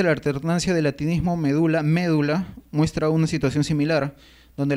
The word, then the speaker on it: médula: alternancia del latinismo medula médula muestra una situación similar donde la forma es brújula que es la anti etimológica ha terminado por imponerse actualmente nosotros pronunciamos médula no médula como era en latín igualmente solemos pronunciar y